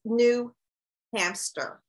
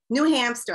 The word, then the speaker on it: New Hampshire: blueprinted and thinking that the way i would pronounce the state that you're in was new hamster okay new hampshire i thought that was how i pronounced it